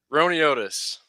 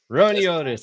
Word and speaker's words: Roiniotis: Ron Otis. Ron Otis.